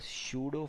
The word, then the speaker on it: pseudo: Now the pseudo force denoted as a P. Yes, P is silent.